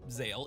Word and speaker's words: Zexal: Zexal, or Zale if you prefer the original pronunciation, Zale?